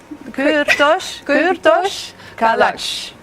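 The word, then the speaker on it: Kürtőskalács: Kurtos kalach. Kurtos kalach. If you try to pronounce it a little bit with singing, it's easier. I noticed. Kurtos kalach.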